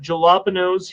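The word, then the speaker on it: jalapeño: We got jalapenos here. I know you're from Texas and you don't like to enunciate things that are silent letters like J and jalapenos.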